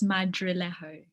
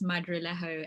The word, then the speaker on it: Madrilejo: name um but yeah the last name is madrilejo and it's actually spanish okay but we can